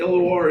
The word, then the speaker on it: LOR: Um and the LOR Foundation, that is how you say it.